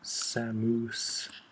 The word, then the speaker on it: Samus: and in the commercial the announcer pronounces samus's name samose like a moose and uh yeah I